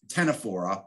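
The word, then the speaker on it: ctenophora: got their own category they're called uh tenefora with a c as well plateau meant these nematodes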